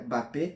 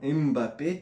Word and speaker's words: Mbappé: Eu escutei inclusive um cara que ele é da África falando que se pronuncia Mbappé e não Mbappé.